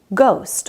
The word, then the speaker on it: ghost: or chaos or echo when gh is at the beginning of a word h is silent like in ghost or ghetto h is